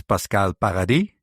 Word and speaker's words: Pascale Paradis: So, I'm already So, I'm going to say your your name is pronounced as Pascal Paradi.